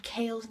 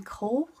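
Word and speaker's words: Chaol: And when I read Throne of Glass, I pictured Kale's name Cole for some reason. I thought his name was Cole. That's how I said it.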